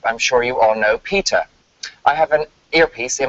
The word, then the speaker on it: PETA: America in the 80s it's pronounced Peter as opposed to Peta which is one of